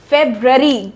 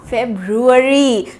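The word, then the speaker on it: February: ये भी बहुत मिसप्रोनाउंस करते हैं लोग, और ये क्या हुआ? फेब्रुअरी। गलत, ये हुआ फेब्रुअरी। सो रुअरी, इसका आपको ध्यान रखना है।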